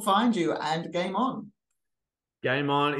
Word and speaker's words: Gaimon: Game On is spelled GAIMON.